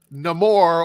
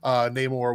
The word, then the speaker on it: Namor: They said it both ways in the movie, but the traditional pronunciation is explained in the movie as a language situation, with Amor being connected to no love, no Amor, Namor, which I thought was